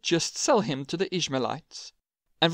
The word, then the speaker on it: Ishmaelites: sell him to the ishmaelites and for those who are curious no i did not mispronounce israelites this is another group with a very similar name then after selling him